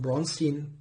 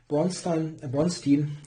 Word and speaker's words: Bronstein: Yeah, here Bronstein, it's difficult to pronounce it in the English way when you are totally used to saying Bronstein in German.